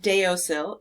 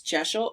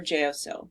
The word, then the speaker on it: deosil: most common is a direction called sunwise or jeshil or sometimes you see this pronounced jso or jyosho it's not deosil it's geshel or geosil just so you know and it it means